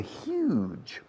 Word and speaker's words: huge: We've had a huge, se pronuncia como Hugh Grant, huge is the most common way of saying enormous, gigantic, very big.